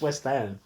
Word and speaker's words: West Ham: so Adam how was Hammond the West day this weekend you can't say it like that it's West Ham it's not like gam from the west side of this place it's it's West Ham